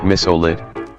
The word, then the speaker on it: Mysolit: said, "It is pronounced misolit, the bot is wrong, like missile and OLIT combined."